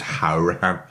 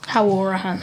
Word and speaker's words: Hourihan: We always have this debate on the podcast how you pronounce it. Apparently it's Hourihan. Anyway. Hourihan.